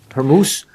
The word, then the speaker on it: Hormuz: How's that pronounced? Hormuz.